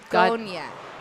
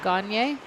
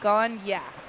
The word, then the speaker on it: Gonya: McAllen Gonya. Gonya. Gagne? It says Gonya. G-O-N, yeah. Gonya. That was me, because I said Gagne.